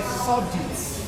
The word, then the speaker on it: subject: So if subject is a noun, then our stress position will be where? The first, because it's a word of two syllables. Then if subject is also a verb, the position of stress will be on what? The second syllable.